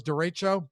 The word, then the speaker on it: derecho: coming through in the clutch thank you fellas derecho i'll pronounce it that way that's what it is